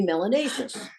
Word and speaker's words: melanatious: more melanin you must be melanatious which rhymes with gracious and spacious melanacious means you got